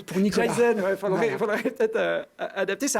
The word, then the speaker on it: Jyse: Alors, je ne sais pas si je le prononce Jyze, bien. c'est ça. Jyze.